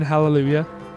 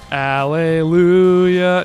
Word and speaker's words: hallelujah: ender Oh Alleluia whoo just not pronounce the H in hallelujah no I never do okay hate that Alleluia that's that's disgraceful yeah